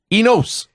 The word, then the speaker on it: Enos: Or as the announcers pronounced it, Mike Enos. I don't think they wanted to call him Mike Anus all night.